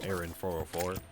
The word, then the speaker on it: Aaron 404: Hence, hence the name uh Aaron 404. It just rhymes with error 404.